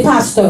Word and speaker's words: pastor: Please learn how to say pastor. Oh, not basta, pastor.